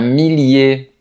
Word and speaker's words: millier: Leurs dérivés aussi se prononcent de la même façon. Donc, on dira un millier un village tranquillement et cetera.